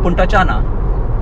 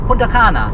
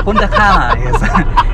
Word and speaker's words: Punta Cana: I said, "Puntachanna". "What?" C-A-N-A. It's because if that symbol isn't there over C, then it's pronounced as 'Ch' in Serbia "Sorry its not Puntachanna, Oh, you mean Punta Cana?"